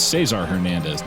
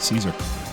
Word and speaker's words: Cesar Hernandez: It's Cesar Hernandez, not Caesar.